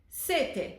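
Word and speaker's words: sette: Set. Set means thirst. If we add an extra t in there, it becomes set. Now, set means seven. The pronunciation and the sound of these words changes as well.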